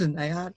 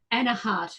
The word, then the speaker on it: Anaheart: No, it's not an A-heart.